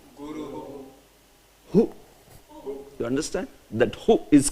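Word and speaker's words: गुरुः: Guruhu. Guru. Hu.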